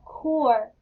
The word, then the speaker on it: core: Alright, then we have core. Or. C-O-R-E. Core. The E is silent.